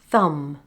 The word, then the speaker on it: thumb: Other words with silent B are comb, bomb, tomb, numb, dumb, thumb, crumb, limb, womb, climb, lamb.